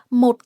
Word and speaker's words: một: Một has a heavy dot tone, dấu nặng. So you drop your voice quickly.